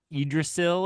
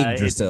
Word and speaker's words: Yggdrasil: It's like Yggdrasil or something. It's Yggdrasil. very, yeah, it's got like three Y's in it in places that surprise you.